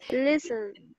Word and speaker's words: listen: Las T, cuando van al medio de palabra, casi siempre, no siempre, son mudas, ¿ya? Son muditas. Entonces, yo lo voy a pronunciar listen. Paso de la S a la N, listen.